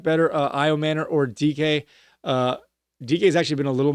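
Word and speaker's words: Dike: I said his name wrong last week. I called him Dyke. His name is Chimere DK, a rookie wide receiver for the Tennessee Titans.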